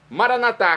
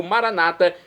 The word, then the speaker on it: maranatá: Agora eu clamo do aramaico, dialeto de Jesus, maranatá, como dizemos nós católicos, ou maranata, como dizem nossos irmãos separados. Não importa a pronúncia, o significado é o mesmo.